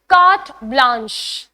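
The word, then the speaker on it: carte blanche: What's the next word okay it's कार्ट ब्लांच।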